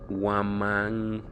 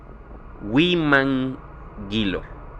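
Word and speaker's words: Huimanguillo: en el municipio de Huamanguilo. Perdón, pero es que no sé pronunciar bien. Se escribe, es Huimanguilo.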